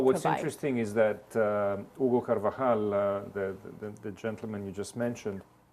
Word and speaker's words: Carvajal: Carvajal, is that how you pronounce his name? Carvajal, yes.